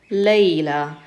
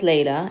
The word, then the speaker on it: ليلى: So we pronounce it like a regular alif. It just looks like a ya, it doesn't have dots.